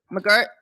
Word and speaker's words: McGirt: Oh, McGirt.